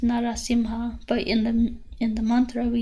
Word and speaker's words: Narasimha: So for example, Narasimha, it's actually pronounced Narasimha, but in the mantra we use Narasimha.